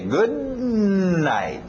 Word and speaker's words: good night: O D e o N não vão bater muito bem, vão chocar. Então, engole esse D. Good night. E o T no final também. Good night.